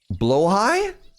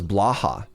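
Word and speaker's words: Blåhaj: And of course, we have the I'm going to pronounce it right. Blowhai. Blowhai. Yeah. Blahigh. Blowh high. Yeah. So, I had never heard that word pronounced out loud and I I thought it was blah.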